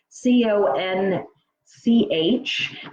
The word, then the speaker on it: conch: a big sea shell it's called a conch Co n CH it's pronounced conch ko and K is actually how